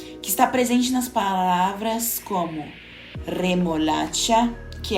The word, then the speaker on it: remolacha: Por isso, certo, é remolacha, vibrando R, e não remolacha, sem vibrar como no português.